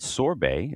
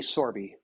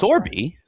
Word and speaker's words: Sorbe: Sorbet, if I'm am I pronouncing that right? Long E. Sorby, but they're close. Sorby. All right. Sorby is the chief payments officer.